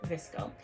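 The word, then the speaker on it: VSCO: The name comes from the photo editing app pronounced Visco, and important outfit ingredients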